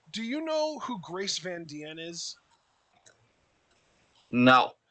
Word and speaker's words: Van Dien: you know who grace van diene is no it might even just be grace van dien but it's spelled d-i-e-n but um she's the